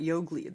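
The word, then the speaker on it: Jogli: how do you pronounce that Yogli? That line above the G. Oh, it's like sure. They're just saying it's like a double G, Yogli. Okay, so it is a hard Yogli.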